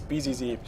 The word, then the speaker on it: Bzz: Bzz fan but not it's not buzzles perfect it's Bzz on that queen of